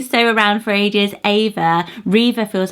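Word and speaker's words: Reva: elegant and it's so many trans the name Riva went up 52 places just last year Riva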